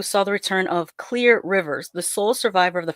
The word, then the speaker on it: Clear Rivers: of see I always want to call her Clare Rivers but apparently her name is actually Clear and I just thought they were mispronouncing it in the movie for some reason.